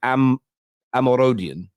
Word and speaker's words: Omorodion: Samu, I think it's pronounced, I've run this through like Google Translate. I've gone onto the internet and gone, how do you say this? And the way it's kind of come out is Omorodion.